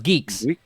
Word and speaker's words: Guix: No, it's Geeks. Geeks. Yeah. Yeah. Geeks. The GNU one. The GNU Nix. The GNU. Yeah. Wix. Yeah. It's spelled Guix, but they are It's adamant. Geeks. They call it. Yeah. Right. It's like right on the front page. Yeah. They're very adamant.